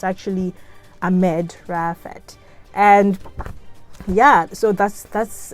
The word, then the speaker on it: Maged Raafat: wasn't i think i read the the last name wrong it's actually a med raphael and yeah so that's that's uh how they